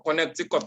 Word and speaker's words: Connecticut: that you want to say that okay for connecticut all this isn't connected cuts which year did